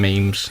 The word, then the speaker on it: meme: It's meme as in gene.